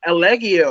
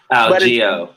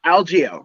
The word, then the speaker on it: Algeo: Spanish descent or whatever, we've called him Elegio or everything but his actual name. Algeo. But it's just Algeo, right?